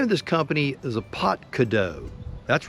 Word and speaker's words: APTKDOE: There you go, a Potadakao. That's what I was told how you pronounce this.